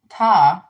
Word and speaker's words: Ptah: So Ta, which is spelled Ptah.